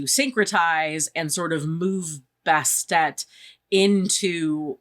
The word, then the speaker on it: Bastet: from what I read the ancient Egyptians didn't pronounce the ending T so it had just been this but that wasn't really her name so people added on the Tet at the end to get you to try to pronounce the T at the end so that became best even though it was spelled bastet um and also to